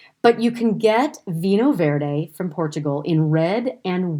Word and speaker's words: Vinho Verde: gone over before and i came to portuguese vino verde and that is spelled v-i-n-h-o and then the new word v-e-r-d-e vino verde now it is a portuguese specifically um portuguese